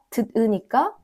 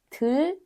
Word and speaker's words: 들으니까: The 디귿, 듣, changes to 리을, and we say not 듣으니까, it goes to 들으니까. Also, not 묻으니까, it changes to 리을, 물으니까.